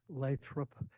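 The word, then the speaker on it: Lathrop: next we have I know I miss pronounced it last time leup my name is leop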